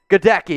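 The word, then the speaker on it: Goedeke: godeki yeah so guys i create weird things in my head how to how to pronounce names and i think of this one you remember the old yankees baseball player hideki matsui well should we go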